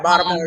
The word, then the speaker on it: Baltimore: You said it right, Baltimore. You know how to say it.